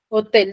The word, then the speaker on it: hotel: Hotel, ¿dónde tiene la mayor fuerza de voz? Tel, Tel. En tel. Hotel. Entonces, tiene la mayor fuerza de voz en la última sílaba.